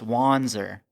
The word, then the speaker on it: Wanzer: When you change it to a Z, people instantly know how to say it because they think, oh, this is German. So it's Wanzer. Right. And they don't mess up the Z in the end. The Z stays put because it's like finite.